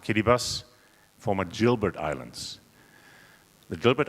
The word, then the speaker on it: Kiribati: The Line Islands belong to the Republic of Kiribati, written as Kiribati, but pronounced Kiribati, former Gilbert Islands.